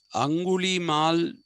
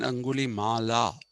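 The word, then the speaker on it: Angulimala: Mal anguli is okay so anguli Mal should have been anguli Mala actually but they say Mal so bakaal is a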